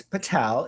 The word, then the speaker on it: Patel: And of course, Patel is correct, right? Yes, it is correct. Always the last syllable, the stress falls on the last syllable.